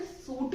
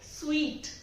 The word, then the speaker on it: suite: इसको हम यूजुअली ज्यादातर लोग बोलते हैं या तो सूट या फिर सूटे, बट एक्चुअली में इन दोनों में से कुछ भी नहीं होता। ये होता है स्वीट। स्वीट, इसको हम बोलते हैं स्वीट।